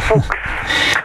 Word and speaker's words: Fuks: Fuchs, qui est avec moi au téléphone. Vous prononcez Fuchs. Excusez-moi. Fuchs. Fuchs. Toutes mes excuses.